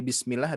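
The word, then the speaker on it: بسم الله: Jadi di sini pun juga sama dari Bismillah, hati-hati tidak Bismillahi Nah, jadi bismi, hati-hati. Jadi sinnya tidak memantul.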